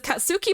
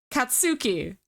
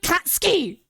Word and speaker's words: Katsuki: is uh Kat katsuki his name is katsuki bakugo that is his name that is how you say his name katsuki k a t s u uh k i katsuki okay they call him catski in the dub they call him [